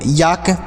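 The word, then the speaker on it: yolk: में आया प्यारे साथियों यल के साथ अगर के का प्रयोग हो तो ल साइलेंट होता है मतलब एल को नहीं पढ़ा जाता है याद रखिएगा चलिए आगे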